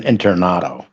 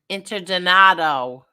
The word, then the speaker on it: Interdonato: jealous of Kevin Internato. Why? Interdonato. Oh, excuse me. I said his name wrong.